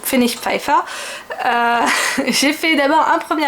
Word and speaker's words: Pfennigpfeiffer: achats chez Fenix fire j'essaye de le prononcer bien l'allemand je pense que si je le prononcer en français ça ferait phénique Phoenix Phoenix Féfé Phoenix Féfé voilà mais non je le prononce à la demande donc Fenix FIFA j'ai fait